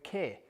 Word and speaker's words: Keir: Keir. It's like saying ear, but with a K on the front, which I know there's going to be jokes now, but I don't care.